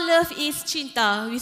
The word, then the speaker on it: cinta: And in Bahasa Melayu or Bahasa Malaysia, we call love is cinta. We spell it like C-I-N-T-A, cinta.